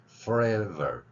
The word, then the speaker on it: forever: 그래서 forever, forever 이 발음을 해보는 겁니다. forever. 자, 앞에 F 발음할 때는 마찰만 계속 일으켰죠. 여기 안 울리고요. forever 이렇게 뒤에 ver 발음.